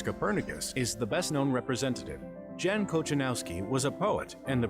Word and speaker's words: Jan Kochanowski: or maybe just get the way how you pronounce that surname. Jan. It's Jan Kochanowski, by the way.